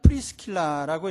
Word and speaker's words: 프리스킬라: 그리고 아굴라라는 이름은 라틴식으로 하면 아퀼라이고 또 브리스길라는 프리스킬라라고 이렇게 발음을 하는데 둘 다 유대인인지 혹은 이 아굴라만 유대인인지는 잘 모르겠어요.